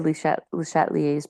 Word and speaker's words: Le Chatelier: All right, now Henri Louis Le Chatlier, so it said Le Chatelier's principle because it's French. That's how they pronounce it when it's IER at the end.